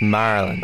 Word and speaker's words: Maryland: Hey, Dave, it's pronounced Maryland.